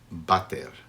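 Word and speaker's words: váter: In Spain, people have adopted the term, but they say bater, V-A-T-E-R, and obviously that's how people were pronouncing it. It was originally spelled water, but they got used to saying it the way they said it, and now it has a be, bater.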